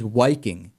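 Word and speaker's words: Wiking: He received a bunch of attention when his former membership in, I think the pronunciation is Viking. It's like Viking with a W.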